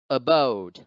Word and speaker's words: abode: second enter next abode here the apostrophe now comes over the second syllable so therefore bode must be stressed instead of the schwa stands as the first syllable so the word is pronounced abode abode then the next the